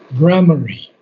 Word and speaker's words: grammary: Tags, and this is a pronunciation that you'll have to learn, grammary.